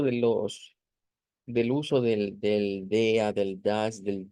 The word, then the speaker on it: der: visto con anterioridad que se va a pronunciar como DEA DEA en donde decíamos que la r se vuelve una a centralizada una eh con la